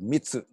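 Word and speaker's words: 密: That word intimate that I'm using in English comes from a Chinese word pronounced in Japanese called mitsu, or I believe it would be mi in Chinese, that which is really the secret, the innermost, the holy of holies.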